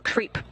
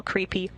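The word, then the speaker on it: KREEP: they have a weird component that we call creep and it's spelled k re e e p in sense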